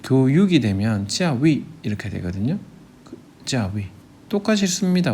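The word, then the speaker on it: 教育: 그러면 이 교자를 중국에서는 찌아오라고 읽습니다. 사성으로요. 그 다음에 그 교육이 되면 찌아위 이렇게 되거든요.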